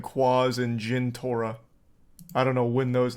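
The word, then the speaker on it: Jentorra: You got that name wrong. It was Jintora.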